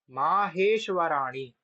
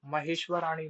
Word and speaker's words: माहेश्वराणि: तो इसको आप पढ़ेंगे क्या है, इति माहेश्वराणी। देखो महेश्वराणी नहीं है, इति माहेश्वराणी सूत्राण यणादि संज्ञार्थानि।